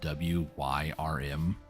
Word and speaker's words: Wyrm: So, Warframe, they have a companion called Worm, and it's spelled W-Y-R-M. Wyrm. Every time I hear people say worm now, that's what I'm hearing is Wyrm.